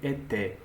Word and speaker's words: était: Whenever you see this ending and you don't pronounce it at all. So what you pronounce is only était.